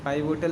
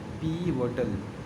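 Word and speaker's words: pivotal: ठीक है, पीवोटल, इसका प्रोनाउंसिएशन पाइवोटल नहीं होता है। क्या होता है? पीवोटल। पीवोटल, पीवोटल, ठीक है।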